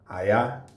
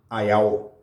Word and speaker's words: Ayaó: Let's talk about the younger sister of Oya, whose name is Ayaó. Pronounced Ayaó. Emphasis on the O. Ayaó.